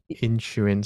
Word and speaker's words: Inisherin: Read that one out because I can't pronounce that in Inisherin.